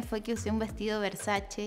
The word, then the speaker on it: Versace: redes me crucificaron debo decir porque se dice Versace y donatella ha hecho Campa aas incluso contando que su marca se pronuncia Versace Y yo que hice fue y dije versachi así que ya aprendí fue una lección fue